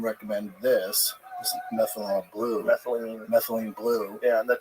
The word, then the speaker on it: methylene: And then I stumbled upon uh was it methanol blue? Yeah. Do you take methanol blue? Yeah. Is that legit? I keep saying that's not how you say it. What is the methylene? Methylene. Methylene. Methyl. Methylene.